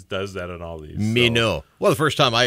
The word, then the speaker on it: Minot: The drive from your location to Minot is 113.2 miles. Minot is giving us the French pronunciation there. Yes, it always does that in all these. Minot.